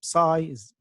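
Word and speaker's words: psi: I whereas I is sighs you know usually it's spelled wrong it should be sigh but we call it which is not correct supposed to be sigh so sigh you know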